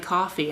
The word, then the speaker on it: Ko-fi: it's not pronounced like coffee.” And I was like, “Oh, I was just living in ignorance.” I wanted it to be pronounced like coffee, but it's pronounced like co-ffee, like “no fee”.